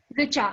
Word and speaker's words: Richa: Richa, R-I-C-H-A. It's just only that Richa.